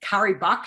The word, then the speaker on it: Cari Buck: my name is i'm here with curry buck now did i pronounce that right yes you did ah look